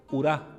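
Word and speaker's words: οὐρά: Por ejemplo, el diptongo ómicron ípsilon se pronuncia como una U un poco cerrada. Por ejemplo, urá, que significa cola.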